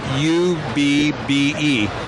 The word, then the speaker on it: Ub: i worked actually his name was originally spelled u-b-b-e and his friends called him abby but after a while for professional purposes on the films themselves he shortened it to ub ub i've pronounced iworks i-w-e-r-k-s almost like an